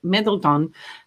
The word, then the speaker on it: Middleton: like sounds more phonetic middle middle tone and no it's middleton mid laton anyway they're going